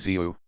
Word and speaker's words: ziu: breath is sucked inward, and thus ziu, pronounced zu, which in their language is one letter, is the ordinary prefix